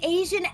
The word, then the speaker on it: Asia: Zia the Asian elephant. Tell me you forgot. Asia, we learned was how it was meant to be pronounced.